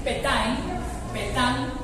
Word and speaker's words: Pétain: El mariscal Henry Philippe Pétain, se pronuncia, se escribe Pétain, organizó la defensa de